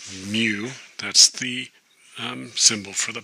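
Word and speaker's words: μ: And that M right here is pronounced mu.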